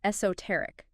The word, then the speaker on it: esoteric: Okay, another interesting one, esoteric. E-S-O-T-E-R-I-C. Esoteric. 4 syllables, stress on the third.